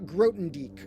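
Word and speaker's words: Grothendieck: And we got Grotendieck as the pronunciation according to Wade Eberly, or Wade says he thinks.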